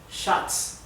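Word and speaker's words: Schatz: verdad en inglés se escribe sh en alemán se escribe s ejemplo shots shots significa el t oro masculino de shats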